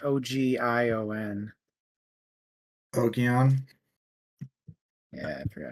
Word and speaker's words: Ogion: It was I forget how you pronounce it. It's Ogion.